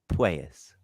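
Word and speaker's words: Puelles: How do you pronounce it? Pues? Oh, Guru's got you. Hold on. Wait. Pues, there he is. Yeah. Pues.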